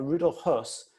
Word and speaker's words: Höss: Now remember, Rudolf Höss, in English it's spelled H-O-E-S-S. That's not the same as Rudolf Hess.